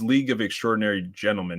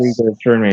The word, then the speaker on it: League of Extraordinary Gentlemen: I actually might have mispronounced. It's League of Extraordinary Gentlemen, isn't it? Yeah, it's yes. Legal Extraordinary Yeah.